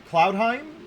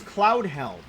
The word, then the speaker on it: Cloudheim: I think we've actually talked about Cloudheim because I couldn't rem I couldn't say it right. I thought it was Cloudhelm.